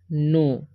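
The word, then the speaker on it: know: का प तो हेल्प यहां पर के एन ओ डबल है ठीक है तो इसे हम पढ़ते हैं नो ठीक है ड उच्चारण जो है ओ होता है और के सा जाता तो नो पढ़ते हैं ठीक है अब हम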